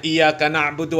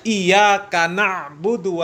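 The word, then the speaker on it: إِيَّاكَ نَعْبُدُ: jelas alhamdulillahibbilamin bukanbilamin ya apalagi bacanya I na'udu Wa iaka nastain Ya itu kan jelas Salahlah ya iyaka na'budu Wa iyaka nastainin bukan kanastain ya itu juga sudah jelas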